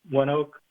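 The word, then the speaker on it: ONEOK: have to look them up um um um one Oak is that I pronounce it okay yeah so that's more of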